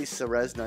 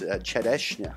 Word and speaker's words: Čerešňa: I always say Ceresna. It's like what my teacher in grade 1 called me, and that's just stuck. But the Slovak pronunciation of it is Čerešňa.